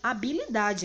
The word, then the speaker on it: habilidade: Olha só, a letra H ela é conhecida como a letra muda, pois na pronúncia das palavras em que ela está inicialmente inserida, ou seja, quando ela está no começo da palavra, o seu som ele não sai.